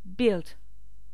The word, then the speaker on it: build: break apporter bring construire build on ne prononce pas le U acheter buy on ne